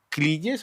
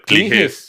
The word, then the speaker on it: Cligès: Bueno, no, yo creo que en español lo van a pronunciar Cliges, ¿cierto? pero la pronunciación francesa es Cliges.